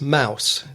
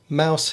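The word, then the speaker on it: Maus: to admit that I haven't read it it's Mouse that's spelled m a u s I haven't read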